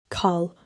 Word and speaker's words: 칼: Let the air out clearly. Call 좋아요. That one needs the puff.